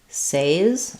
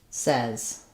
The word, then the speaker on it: says: Or did you say says? When we say it says, he says, she says, we no longer use that AY pronunciation that we do in I say, you say, etc.